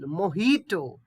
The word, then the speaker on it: mojito: this one is cocktail mojito mojito not to j we should we should not pronounce j it will be mojito yeah this is most